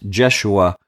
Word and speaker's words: Joshua: I hope you've noticed Joshua, or his name could be pronounced Jeshua, the high priest.